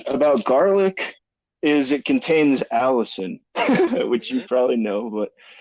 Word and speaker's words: allicin: Now the cool thing about garlic is it contains allicin, which you probably know, but I looked up the pronunciation.